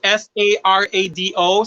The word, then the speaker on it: sarado: i explain it first the filipino language we actually pronounce it almost the same as spanish so when you say cerrado we actually but it's it spelled differently in the philippines so it's s-a-r-a-d-o so we say sarado